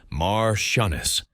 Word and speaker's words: marchioness: The female equivalent is Martianess, pronounced Mar Shunnis.